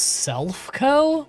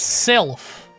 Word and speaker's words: Silph: I think it's pronounced Self-Co? What? Isn't it Sylph? Bet I can smash It's Sylph. Like the Sylph scope.